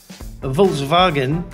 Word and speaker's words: Volkswagen: I think because it's a German car, if you're in Europe, we tend to get it from the normal pronunciation. For instance, if you get it covered on television, if you're in Europe, it'll usually come out the German way, Volkswagen. Volkswagen is the way they say it, Volkswagen, which is the